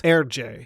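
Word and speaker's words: Hergé: you pronounce his initials his initials in reverse would be r g in French you would pronounce this herj so he became her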